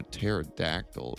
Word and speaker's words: pterodactyl: faintest idea you can't the p is silent that's